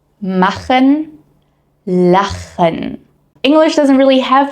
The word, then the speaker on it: machen: strange at first, and most beginners automatically actually replace this with a k sound. So, machen turns into macken or Buch sounds like book.